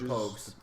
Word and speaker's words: Pogues: Could be Pogues or Pajues, but it's actually Pogues.